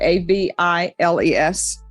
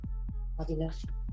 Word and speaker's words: Aviles: I guess that's how you pronounce it, a v i l e s. Aviles.